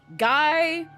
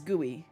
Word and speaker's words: GUI: Um so you do not pronounce it as guy or gua or gui. you pronounce it as guey because any person in